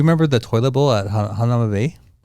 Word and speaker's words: Hanauma Bay: Hanauma Bay.